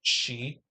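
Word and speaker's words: sidhe: how to pronounce it it's like you see the word uh spelled s-i-d-h-e and it's pronounced she um you know because it's you know old Irish or Gaelic or something like that I don't know the origin of the term but it's pronounced differently than you think it was from spelling so you know some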